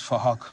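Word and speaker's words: Phuc: His name is Fahok. We're spelt with a PH, so it sounds like Fahok.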